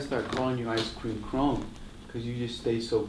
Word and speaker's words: Kron: Is it it rhymes with cone? Ice cream cone. Ice cream Kron. Kron.